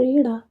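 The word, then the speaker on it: ઈંડા: उसके बाद में इरबिंदी और इंडा। इंडा इंडा यानी अंडा अंडा को इंडा कहा जाता है। तो इस तरीके से प्रोनाउंस किया जाता है इंडा अंडा को।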